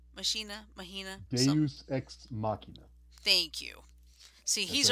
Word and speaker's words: Deus Ex Machina: Do e Machina. Deus Ex Machina.